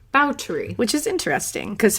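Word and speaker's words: Báthory: But on his podcast, I learned that it is actually pronounced Bathory. Bathory. Which is interesting, because Hungarian language, you kind of like say the two parts of Bathory separately.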